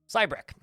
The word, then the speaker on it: Cybrek: Next up, Cybrek. Almost rhymes with Shrek if you add a few letters.